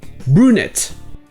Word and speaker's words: brunette: Et encore une fois, le son U n'existe pas vraiment en anglais. Donc à la place, il le prononce U. Brunette.